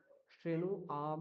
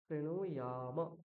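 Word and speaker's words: শৃণুয়াম: শ্রেণু আম বলা যাবে না, কি বলতে হবে? শ্রেণু ইয়াম। হ্যাঁ, আম নয়, ইয়াম। অন্তত জকে ইয় উচ্চারণ করতে হবে, তারপরে আকার রয়েছে তাহলে ইয়া বলতে হবে।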